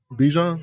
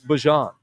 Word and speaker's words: Bijan: Bijan? It's Bajan.